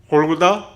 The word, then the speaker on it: 골고다: 해골이라 하는 곳에 이르러, 해골은 골고다, 갈보리 같은 말입니다. 골고다는 히브리어 발음이고 갈보리는 헬라어 발음입니다.